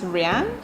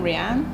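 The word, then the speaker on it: Raeane: Hi, my name is Rian. That's my name sign, Rianne. It's spelled R A E A N E.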